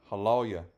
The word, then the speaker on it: aleluya: Que aleluya es una palabra hebrea que se correctamente se pronuncia halya.